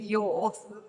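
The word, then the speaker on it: Yaw: Yeah, and I think, well, I haven't actually mentioned anything to do with yours.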